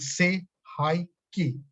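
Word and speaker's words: Sei He Ki: So say hi ki, say hi ki. Second, after chokure, second symbol of Reiki is say hi ki. So the second symbol is say hi ki, pronounced like say hi ki.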